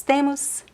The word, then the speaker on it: tem: Eu tenho, você tem, nós temos, eles têm. The pronunciation for the singular and the plural form, tem. Tem is the same pronunciation. There is a small difference in the writing, right?